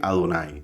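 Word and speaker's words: אדני: Aquí dice Adonai. Tenemos la Aleph con una A. La Aleph es muda y solo decimos la A.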